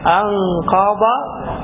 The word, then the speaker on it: أنقض: അൻഖബ അവിടെ എങ്ങനെ അൻക പോലെ അൻഖബ ലഹ്റക, അൻഖബ ലഹ്റക. രണ്ടും വേറെ വേറെയാണ്. അൻഖബയുടെ ബാദാണ്, ലഹറിൻ്റെതോ ലാ.